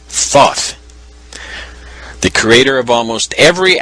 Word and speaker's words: Thoth: conjured up my thought thought is the Egyptian god Thoth the creator of almost